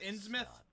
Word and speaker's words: Innsmouth: It's actually pronounced Innsmouth.